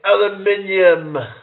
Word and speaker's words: aluminium: It's like, we say aluminum, and then British people, they say aluminium.